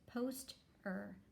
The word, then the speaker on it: poster: syllable usual rule and this one has an er that's the suffix i can cut that right off i know er says er like in her there's my vowel right there in that word i'm going to see this as a two-syllable word and read it as post er poster in this word i